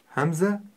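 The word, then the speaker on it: همزة: раз это буква Хамза Хамза произносится горлом Хамза хмз Давайте ещё раз напишем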